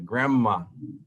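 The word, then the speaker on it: grandma: es como se pronuncia granma granma es como si la n se convirtiera en m y la d no se pronuncia entonces prima ismay granma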